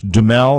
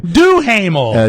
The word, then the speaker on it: Duhamel: to me, I was watching a movie last night, a pay-per-view movie with Josh Duhamel. Is that the way you pronounce his last name? Duhamel. Duhamel.